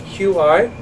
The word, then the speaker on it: qi: So you spell it C-H-I or Q-I. It's not cheese. It's qi.